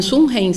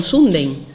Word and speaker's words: Sundheim: no en la internacional no lo tratamos como william sumen sino como guillermo sunday y lo hemos castellanizado también en la pronunciación bueno el que tenéis